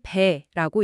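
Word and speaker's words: 北: 북은 방향 북쪽이 아니라 패하여 달아날 배라고 읽습니다.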